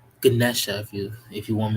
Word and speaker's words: Ganesha: life what resigns over the root chakra right ganisha Ganesha if you if you want me pronounce it better no disrespect to the guy